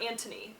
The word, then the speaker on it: Anthony: So, firstborn, Anthony, or Antony, I think is the British way you pronounce it. Anthony. I'm American. Sorry.